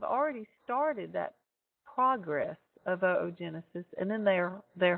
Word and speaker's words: oogenesis: maturing and as it does the process of oogenesis continues oogenesis in females would be analogous to spermatogenesis in males and please note that it is pronounced oo genesis not oogenesis even though it's spelled o o